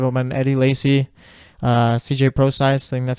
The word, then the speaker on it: Prosise: time to give up my Eddie Lacy CJ Prosise thing that's how you pronounce his last name camera exactly but not